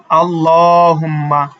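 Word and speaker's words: اللَّهُمَّ: যদি আবার একটু দেখি আল্লাহুম্মা ঠিক আছে এখানে যে আছে আল্লাহুম্মা আল্লাহুম্মা এই দেখেন লাম লামের পূর্বে কি আছে জবর আছে জবর থাকার কারণে আমরা এই উচ্চারণকে এ লামকে মোটা করে পড়বো আল্লাহু আল্লাহু তারপরটা কি আল্লাহুম্মা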